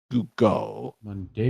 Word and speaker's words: Monteagudo: Monteagudo? Yes, that's how you say it.